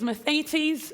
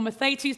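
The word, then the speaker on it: μαθητής: The word disciple in the Greek is mathetes, or mathetes, depending on your personal pronunciation of ancient Greek.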